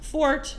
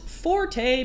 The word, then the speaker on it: forte: English is my fort this word is often mispronounced Forte because it's confused with the Italian word Forte pronounce Forte the words